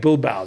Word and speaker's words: Bilbao: In fact, Bilbao.